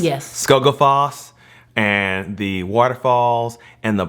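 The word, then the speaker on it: Skógafoss: And then that place called I forget how you pronounce it. Skogafoss. Yes. Skogafoss, and the waterfalls and the black sand beaches.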